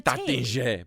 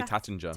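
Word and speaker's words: Taittinger: You and pronounce it's the Tatinge, but we just say Tattinger.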